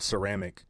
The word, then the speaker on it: ceramic: The word ceramic comes through French. That's the reason for the soft C at the beginning.